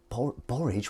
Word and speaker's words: borage: Used fermented borage. What's borage? How do you pronounce it? Is it like porridge? There's only one R though. Borage.